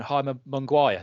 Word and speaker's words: Jaime Munguia: Jaime Munguia.